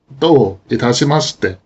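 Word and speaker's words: どういたしまして: どういたしまして、 In this pattern, both do and itashimashite individually are accented. But it's not uncommon for the final verb ending in mas to become unaccented, especially in expressions like this. It is possible to say this sentence slowly and deliberately as 2 phrases. Do itashimashite.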